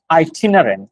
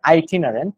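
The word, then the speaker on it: itinerant: টাইপের so next word আই টিনারেন্ট এটার উচ্চারণটা আই টিনারেন্ট আই টা প্রথমে আই উচ্চারণ পরেরটা এরকম তো আই টিনারেন্ট আইটিনারি শব্দটা কেউ কেউ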